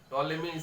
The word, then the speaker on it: Ptolemy: টলেমি স্পেলিংটা দেখো, বানানটা টলেমি বানান, পি দিয়ে স্টার্ট হচ্ছে, PTOLEMY। P is hidden, P is silent।